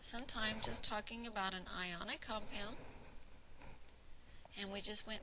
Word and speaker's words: anion: I on the other hand and it is pronounced anion and not in yin is an atom that it's gained electrons and